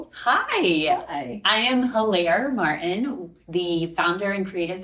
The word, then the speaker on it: Hilaire: I am Hilaire Martin, the founder and creative visionary of Raleigh Founded. And if you forget how to say her name, it's like hilarious.